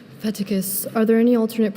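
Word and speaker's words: fetticus: Feticus. Are there any alternate pronunciations?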